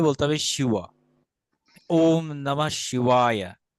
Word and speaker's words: শিবায়: অর্থাৎ এখানে আসলে ওয়া বলতে এখানে ডব্লিউ এর মতো উচ্চারিত হবে।